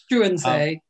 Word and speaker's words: Struensee: And is it pronounced Struensee? Struensee.